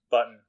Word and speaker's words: button: And so that's something that phonologists or phoneticians, whatever, people who study sounds, call a syllabic N because it's an N that is being a syllable all by itself with no vowel.